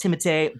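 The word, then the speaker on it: Timothée: basically every time goes It's pronounced timate but you can pronounce it honestly however you want you can call me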